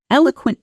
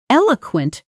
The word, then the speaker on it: eloquent: Pronunciation. Eel oquent. The stress is firmly on the first syllable.